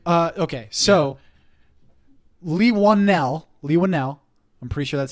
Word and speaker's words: Leigh Whannell: you'll love upgrade okay so leave one now Leigh Whannell I'm pre that's how it's pronounced he so he's an Australian director he's